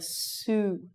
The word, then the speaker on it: suit: So you're going to say suit. Suit. This is soot. This is suit. You need to make your mouth like a donut, and you need to drag the vowel sound out.